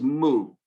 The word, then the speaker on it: mu: This is mu. It is the M sound in Greek, but we call this letter mu, and we spell it M-U, mu.